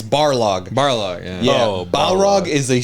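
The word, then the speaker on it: Barlog: Oh, I said Cory Baharog. I mispronounc. It's Barlo.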